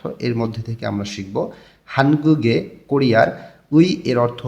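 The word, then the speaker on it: 의: এর মধ্যে থেকে আমরা শিখব হানগুগে কোরিয়ার। উই এর অর্থ র বা এর। উইটা পার্টিকেল হিসেবে শব্দের শেষে বসলে তখন উই উচ্চারণ না হয়ে এর উচ্চারণ হয়।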